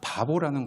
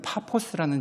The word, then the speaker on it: 파포스: 바보라는 곳에 도착이 됩니다. 저는 왜 지명이 바본가라고 봤는데 우리나라식은 P가 B 발음을 해서 그냥 바본데 원래는 파포스라는 지역이래요.